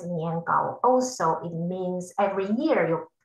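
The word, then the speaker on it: 年糕: It pronounced in Chinese as niangao.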